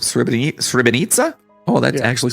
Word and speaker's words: Srebrenica: I think is like a it's almost like a TZ sound. Nitsa, I think is how it's pronounced. Srebrenica.